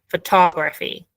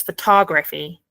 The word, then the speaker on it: photography: the thing is that the stress is on the second one and we say photography so this fit sound is not actually pronounced it's photography and photographer um and